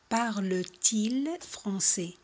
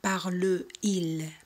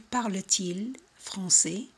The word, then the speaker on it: parle-t-il: Si el verbo acaba en una vocal y el sujeto empieza también con una vocal, añadimos una T entre los dos para facilitar la pronunciación.